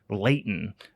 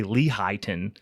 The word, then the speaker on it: Lehighton: I think it's pronounced Layton. A lot of people say Lehighton because it's spelled like Lehigh Valley, Lehighton, but I think it's pronounced Layton. I might be wrong.